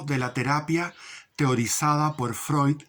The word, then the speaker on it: Freud: García, y dice, Freud o Freud, pero se pronuncia Freud, y la fagocitosis de la inmoralidad masónica en el hombre, de Roberto García, psicólogo.